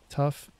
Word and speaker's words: tough: joking by the way and then tough tough o-u-g-h is enough sound cough tough my brain is broken